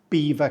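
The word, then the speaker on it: Belvoir: start with a classic this one is definitely not pronounced how it's spelled it's pronounced correctly Beaver Castle we do not say Belvo or BVO or anything even remotely French sounding yeah it looks French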